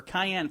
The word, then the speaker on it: cayenne: To keep squirrels from eating your plants, sprinkle your plants with canine pepper or cayenne pepper. How do you say? Cayenne. Not canine pepper, that's dog pepper.